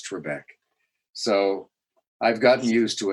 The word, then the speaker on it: Trebek: a few years back and she did not pronounce Trebek the way I pronounce Trebek so I've gotten used to it there that